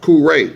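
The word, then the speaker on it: Kure: right and kuray pronounced kuray now it's it's spelled k u r e but then it's pronounced k o o r a y okay any Mis pronouncation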